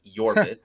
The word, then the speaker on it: Jorbit: remember we first got I was calling him jbit but it's ybit pronounced with a like a y sound uh